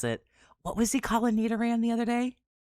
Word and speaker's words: Nidoran: Like how he would mispronounce it. What was he calling Nidoran the other day? Nidorian.